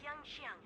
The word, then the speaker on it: Yanqing: This is Yanqing, retainer to General Jingliu. Oh, that's how it's pronounced.